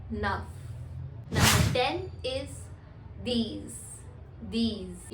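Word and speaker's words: dix: are just starting विद यू एंड वी are pronounce it एज वीथ next is number nine which is enough enough number 10 is these these you can write down the pronunciation as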